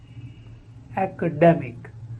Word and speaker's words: academic: first word is academic academic the first is act as in action Apple and the second syllable is they a so